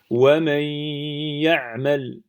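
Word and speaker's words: وَمَنْ يَعْمَلْ: Alors on va le prononcer comme ça. Wa man ya'mal. Si je bouge mon nez, wa man ya'mal. On entend bien la runna sur le ya.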